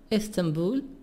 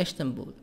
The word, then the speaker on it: Istanbul: Istanbul, the capital of Turkey. Also, Istanbul. برضو في لهجة تانية في الأمريكان بنطقها إشتنبول.